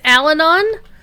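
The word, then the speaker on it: Allanon: know it is pronounced alanon because that's how they pronounce it on the shannara tv series so that's a thing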